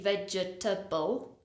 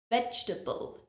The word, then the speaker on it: vegetable: to comfortable is vegetable notice I don't say vegetable it's not for syllables it's only three vegetable vegetable we're not saying veggie table just like we don't say comfortable it's vegetable vegetable another word which